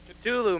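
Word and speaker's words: Ktulu: PJ how do you how do you pronounce the instrumental on the second side of R the lightning the exact pronunciation culu man I was right Jesus Christ culu your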